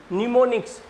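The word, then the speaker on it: mnemonics: को बोला जाता है निमोनिक्स। देखो एम से स्टार्ट हो रही है स्पेलिंग और एन से बोली जाएगी, निमोनिक्स।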